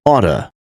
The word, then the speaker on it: ought to: Ought to is pronounced as oughta.